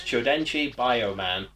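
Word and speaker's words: Chōdenshi Bioman: Flipping through the channels, Saban saw Sentai's then-current show, 1984's Chodenchi Bioman. Yes, it is pronounced like that.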